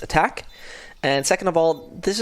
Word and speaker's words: ATK: bit of research ATK first of all actually pronounced attack and second of all this is if I